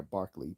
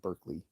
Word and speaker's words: Berkeley: Barkley was Scottish so he produced he is pronounced they Barkley but they call it Berkeley after the you know just like David Hume